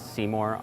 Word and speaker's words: SeeMore: Hence, we've sort of adopted the name as SeeMore. Of course, ours is spelled S-E-E-M-O-R-E, so it's more like see more inside of what's going on in the computer.